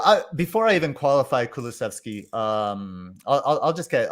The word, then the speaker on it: Kulusevski: yeah okay and and then we have diane kulaszewski so well pronounced thanks i i looked it up so i before i even qualify kulusevski um i'll i'll just get i'll just get